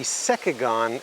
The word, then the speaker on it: Cekegon: this video we're going to be reviewing the secagon electric pruning shears now i'm not sponsored by